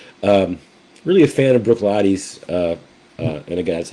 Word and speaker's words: Bruichladdich: really am really um really a fan of Brooklotti's. Uh, uh, and again, that's how it's usually pronounced. It looks like Brook Ladic, but Brooklotti.